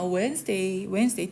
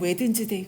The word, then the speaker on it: Wednesday: Wednesday. D는 발음 안 하지만 우리가 쓸 때는 Wednesday 그래.